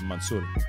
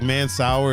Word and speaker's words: Mansour: My high school teachers and all that were always like Mansour, but yeah, I was always like I heard Mansour growing up, but like the ethnic pronunciation of it is like Mansour. I feel like Mansour is like the super Caucasian way of.